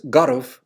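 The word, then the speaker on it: garbh: But when they were in Ahabo, he recorded that the native speakers pronounced Garav, rough, as Gara, so Tarav would have been Tara.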